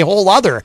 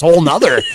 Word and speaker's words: whole other: But what's particularly infuriating about whole nother is it's actually easier to just say it correctly. It takes less effort to just say whole other. That's what I just don't understand. Why everyone says whole nother.